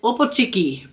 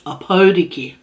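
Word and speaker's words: Opōtiki: I said Opotiki, but it's Opotiki.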